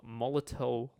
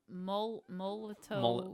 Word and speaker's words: Molotow: So Molotow. Molto. I think it's pronounced Molto. So what you can do is I'm thinking of a Molotov cocktail.